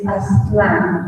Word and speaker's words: Aztlán: The culture that is being taught to the Latino kids, or really the illegal kids, is Aztlán. And I'm going to spell it out so people will do the research before you say that I am crazy.